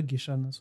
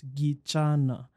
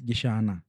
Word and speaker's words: Gichana: And then there's mine, the pronunciation is Gichana. So that is from the Nyamira and that area. So the way it is pronounced in Kikuyu is Gichana. Yes. In Kisii is Gichana.